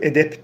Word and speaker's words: edep: Tabii ki Arapça kelime Biz p telaffuz ediyoruz edep diye ama arapçadaki o b harfleri Türkçede p diye geçmiş orijinali B edep isimmiş arkadaşlar erkek